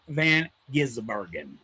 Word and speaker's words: van Gisbergen: Shane Van Gizberen.